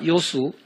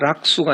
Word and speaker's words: 요수: 논어에 지자, 요수, 인자, 요산, 이게 락자가 아니고 요로 발음합니다. 지자, 락수가 아니고요. 요수, 지혜로운 자는 물을 좋아한다. 좋아할 요자입니다.